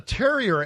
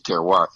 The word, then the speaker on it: terroir: to our audience well Terriers is really a French word I think the right pronunciation is terroir there were literally literally